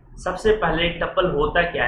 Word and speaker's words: tuple: एक का नाम है टपल, कुछ लोग इसको ट्यूपल भी बोलते हैं, इसका स्पेलिंग है TUPLE, हम लोग इसको टपल बोलते हैं।